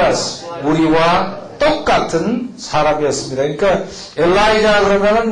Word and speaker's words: Elijah: 엘리야가 엘리야의 엘리야. 이 J 발음이 J 발음이 이 예루살렘 중동지방 이쪽으로 가면 이제 독일어도 거의 비슷하게 발음이 되는데 이하 발음이 엘리야 거긴 그렇게 얘기하고 영어식으로 하면 엘라이자 다 같이 엘라이자 그러는데 엘리사 또 있지 엘리사